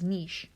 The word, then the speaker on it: niche: one species uses their niche and some people pronounce that as niche it's their role or